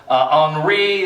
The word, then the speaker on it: Henri: Henri, that's how you pronounce that one.